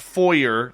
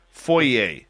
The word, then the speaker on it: foyer: how to pronounce foyer it's not foyer that's the American way foyer foyer is the American way